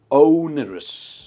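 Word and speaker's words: onerous: ओनरस, इसकी pronunciation है ओनरस।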